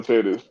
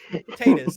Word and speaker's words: Tatis: Fernando Tatis.